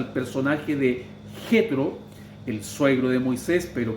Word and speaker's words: Jetro: Algunos lo pronuncian Yitro, otros Yetro, pero nosotros lo tenemos en nuestra Biblia en español, naturalmente, con J, y lo pronunciamos como Jetro.